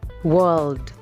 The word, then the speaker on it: world: would miripkan Word Word kamu cuma harus mempertegas huruf L yang ada di tengah world world artinya the years We